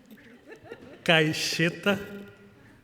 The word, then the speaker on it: Caixeta: My name is Caixeta. We pronounce X as your SH.